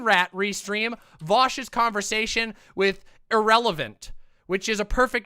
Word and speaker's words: Ahrelevant: no um i am irrelevant all right true the actual word irrelevant was taken and i like it so it's pronounced exactly like the word irrelevant like somebody is a nobody and yeah i'm a